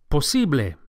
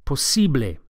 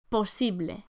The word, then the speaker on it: posible: To say possible in Spanish, the word is posible. Posible. The second syllable, the E, is accentuated. Posible. Posible. And the final E sound, posible, is a pure vowel, not A. Don't say posible, but posible.